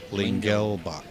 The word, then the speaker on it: Lingelbach: time right, and not because somebody was like, "Oh, it's Lingbach." I'm like, "You sure?" I mean, where did the L go? Yeah, it's Lingelbach. Lingelbach.